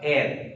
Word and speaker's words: heir: My dear student, here the see the pronunciation air. H-E-I-R, air. Okay? A-I-R, same pronunciation. Okay?